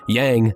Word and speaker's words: yang: as yang and yin i remember it because yang masculine rhymes with wang clever right whatever it